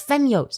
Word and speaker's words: Femyoz: It's Femyoz. It's not that difficult to pronounce.